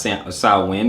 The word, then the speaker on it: Samhain: It looks like Samhain, but Samhain, pronounced Samhain.